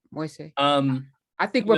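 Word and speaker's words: Moïse: going along with what, how do you pronounce his last name? Moise? How do you, the president who was just recently assassinated? Moise? Yeah, I think Moise. you're correct. Moise.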